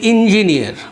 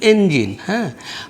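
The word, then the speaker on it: engine: যেমন ধরুন আমরা বলি ইঞ্জিনিয়ার বা ইঞ্জিন, তাই না? কিন্তু ইংরেজি উচ্চারণে সেটা কিন্তু এঞ্জিন।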